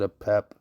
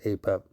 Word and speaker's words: Apep: Okay, so he pronounces it a pep. Everybody I've ever heard has always said a pep.